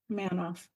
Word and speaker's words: Manoff: that one of the Pink Ladies Dina manof Manoff yes you're right is it I'm trying it